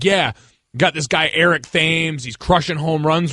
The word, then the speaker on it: Thames: Thames is the way I like it to be pronounced, but I did like the idea of that, right?